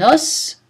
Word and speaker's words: os: Comme les mots œuf et bœuf, la prononciation du mot os varie au singulier et au pluriel. Un os, des os.